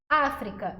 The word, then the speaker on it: África: África e metafísica, o fi e o a são as sílabas mais fortes.